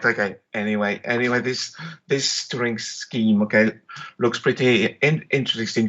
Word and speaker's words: Turing: Is it Turing or Turing? It's Turing.